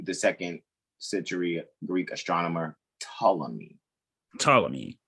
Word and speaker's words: Ptolemy: our colleagues would say ptolemy indeed the p is silent like the g i